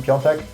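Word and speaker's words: Piątek: But then again, no AC Milan forward did really well last season apart from Piontek. Apparently that is how you pronounce it.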